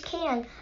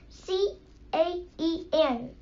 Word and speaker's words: Caen: that the burial places for Sir Kay is Caen, a town in Normandy, France. Wait, I better write that down, said Jack. He pulled his notebook and pencil into his backpack. Spell that, please. C-A-E-N, said Teddy.